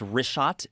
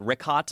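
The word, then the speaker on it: Richat: couple uh I just want to say it's rishot. I used to call it rickot. I was m mispronouncing it.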